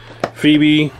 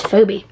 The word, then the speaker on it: Phoebe: I really like him Phoebe oh that's how you spell her name that's how you say her name I thought I thought it was phobe pukey we are going